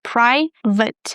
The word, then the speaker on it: private: Not vate, all right? Pri vate. Private.